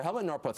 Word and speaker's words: Helmut Norpoth: So this is Professor Helmut Norpoth. I don't even know if I'm pronouncing correctly. I want to spell his name. Helmut Norpoth. Perfect.